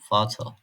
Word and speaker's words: Vater: Almancadaki v sesleri f gibi okunur. Örneğin "Vater".